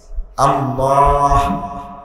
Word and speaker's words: আল্লাহ: এ হা উল উচ্চারণ হলকের মধ্যখান হইতে বাইর হইতো আল্লাহ শেষে একটা ছোট হা আছে আল্লাহ এইযে এই এটা